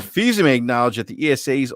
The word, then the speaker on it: Fils-Aimé: Reggie, whatever his last name is, because I never pronounce it. Fils-Aimé.